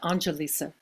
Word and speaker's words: Analisa: hi hi there um my name uh it's pronounced anelisa Angelisa oh that's right